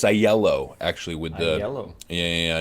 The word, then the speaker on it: Aiello: year with a really good friend uh aio did i pronounce the surname correctly it's the uh it's a yellow actually with the yellow yeah yeah no no